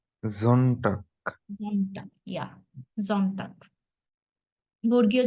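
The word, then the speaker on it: Sonntag: আসতেছে জন্নটাক তো এইটা এরকম হইতেছে কেন এটা উচ্চারণটাই এটা মানে ডয়ে ওরা হচ্ছে জনটাক বলে এটাকে সন্নটাক বলে না জনটাক যখন আপনি কোন কিছু শুনবেন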